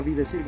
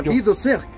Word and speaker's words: Vie de Cirque: Un ejemplo, Vi de Cirque no se pronuncia Vi de Cirque ni siquiera. Se pronuncia Vi de Cirque porque es francés.